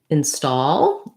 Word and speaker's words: install: the word install and i'm highlighting that stall is a stressed syllable here so for some people it is really just the same sounds as the word in and then the word stall again we have a